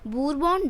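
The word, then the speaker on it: Bourbon: Simple सा answer है Louis 16 belong to द बूरबॉन dynasty. ये बूरबॉन डायनेस्टी से संबंध रखते थे। इसको बूरबॉन भी बोलते हैं, बर्बन भी बोलते हैं, ठीक है। इट्स अप टू यू हाउ you pronounce it.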